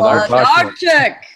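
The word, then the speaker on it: Włodarczyk: Vladarchik.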